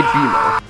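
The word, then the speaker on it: Bemo: In celebration of him getting his own show, let's talk about Beimo Blitz. Spelled like B E M O for some reason.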